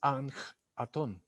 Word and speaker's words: Akhenatón: faraón que se llamó a ken atom o amenofis quart su pronunciación correcta es anc atom él fue el primer